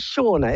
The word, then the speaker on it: Shauna: husky but never mind is it Shauna is that how I pronounce your name yes oh great okay okay got the pronunciation right shaa I'm looking at